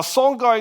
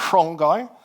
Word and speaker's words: Songhai: Now, sanai is how we say in English. Some people think that should be pronounced shongai, but we'll just keep it pronounced uh we'll keep the pronunciation simple.